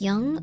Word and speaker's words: Jung: Um, Jung, pronounced like young.